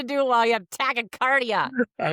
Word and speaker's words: tachycardia: you get to do it while you have tachycardia.